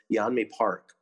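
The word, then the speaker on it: Yeonmi Park: had given with, I think her name is pronounced Yanmi Park.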